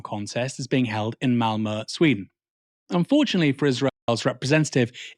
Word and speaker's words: Malmö: pro-Palestine That's funny because I guess I've been mispronouncing it for a while. I keep saying Malmo. protests But it's Malmö.